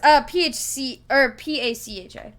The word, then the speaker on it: Pacha: No, it's P-A-C-H-A. Pacha. That's how I've heard him pronounce it, is more with a S-H sound, but with a C-H.